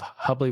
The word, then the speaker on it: Hubly: Today we're thrilled to have Louis Ratif, the co-founder and former CEO of Hubbly Rhymes with Bubbly, a pioneering wealth tech company that revolutionized health wealth manage over hundreds of firms.